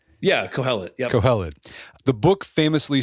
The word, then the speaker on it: Kohelet: Yeah, Kohelet.